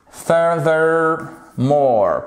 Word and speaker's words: furthermore: In addition, furthermore. Pourquoi je vous l'ai mis celui-ci? Puisqu'on a notre TH ici qui est un peu dur à prononcer avec un accent sur la première syllabe.